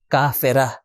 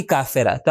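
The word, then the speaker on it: كافرة: دیکھیں یہ دو نقطے والی تا جب ہم یہاں پر رکیں گے تو اس کا تلفظ بن جائے گا ہا، کافرہ. لیکن اگر اس کو جوڑ دے کسی چیز سے، مثال کے طور آپ کہنا چاہتے ہیں کہ مکہ کی کافرہ، تو آپ کہیں کافرہ تو مکہ. جب ایڈ کر دیں گے کسی چیز کو تو تا کا تلفظ ہوگا، اگر کوئی چیز ایڈ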